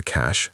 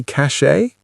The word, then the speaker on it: cache: Did you say cache? So did I for many years, but it's not right. The correct pronunciation is cache. Just like cash as in money, computer cache and money cache are homophones.